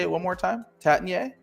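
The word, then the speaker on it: Taittinger: Tatinier? Tatinier, yeah. Oh, I nailed it. It's a soft G. I think you can spot someone a mile away if they use the hard G there. It's like shot.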